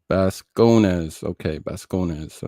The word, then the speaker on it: Bascones: Pronounce Bascones. Okay, Bascones.